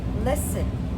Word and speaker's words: listen: Now, one word I had talked to you about before was listen. We're starting with that because I need you to listen. But listen, that T is silent.